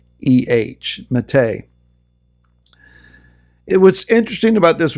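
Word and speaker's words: matteh: rod rod of authority is the word mate if you want to transliterate that into English you could probably spell it m-a-t-t-e-h mate it was interesting about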